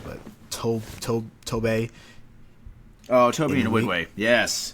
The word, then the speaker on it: Nwigwe: Oh, Toby Nwigwe. Yes. Nwigwe.